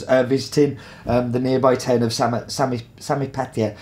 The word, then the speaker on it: Samaipata: The reason I got the notes was that El Fuerte is named after the fort of Samipata. Yeah, I can't pronounce it, can I? Samaipata, which is a unique fort that was built